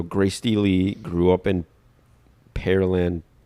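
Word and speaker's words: Pearland: Steely grew up in perland perland Texas or perland it's spelled like the fruit peir perland so perland think perland Texas and is a graduate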